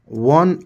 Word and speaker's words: one: पर भी यह होगा वन ऑफ वल से शुरू है वह लेकिन यहां पर आप देखि कि एच आवर में एच कंसोनेंट से शुरू था लेकिन वहा एन लगाए क्यों क्योंकि उसका प्रोनंसिएशन जो था वोवेल्स में था स्वर में था आवर तो वहां पर एन लगा लेकिन यहां वल से शुरू है लेकिन इसका प्रोनंसिएशन कंसोनेंट में है वन तो वन